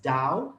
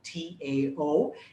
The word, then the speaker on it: Tao: dao de chin and now western pronunciation pronounces it as dao t-a-o eastern pronunciation pronounces pronounces it as tao t-a-o and doesn't matter what you call it call it the tao call it the dao i think dao just